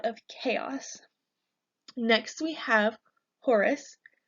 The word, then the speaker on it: Horus: chaos next we have Horus Horus sounds like the word horse but within us at the end Horus Horus is the divine